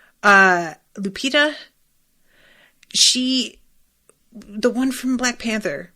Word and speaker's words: Lupita: Lupita? The one from Black Panther, Lupita.